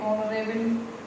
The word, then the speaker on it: honourable: तो फिर आ जाएगा, ये गलत प्रोनाउंसिएशन है, इसको कहते हैं ऑनरेबल।